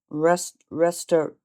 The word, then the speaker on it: restaurateur: Restaurateur. Restaurateur is a made-up word. It's not restaurateur with an N in there. It's restaurateur. We're learning.